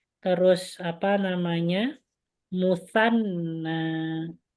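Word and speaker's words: مثنى: Musanna. Ya, bacanya musanna.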